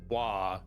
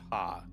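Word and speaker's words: は: Oh, the hiragana ha is only pronounced wa as a topic maker. Otherwise, it's pronounced ha.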